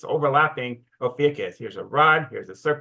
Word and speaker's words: Ophiuchus: All right, now let's take a look at the minor constellation of Ophiuchus. And that's pronounced different ways. That's how I pronounce it.